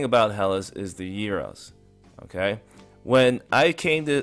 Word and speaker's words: gyro: euro all right and notice I pronounce it Euro it's not gyro Euro all right here